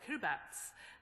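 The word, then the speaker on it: Kiribati: It's it's pronounced. So I'm Kirbats and it's in in the Pacific and I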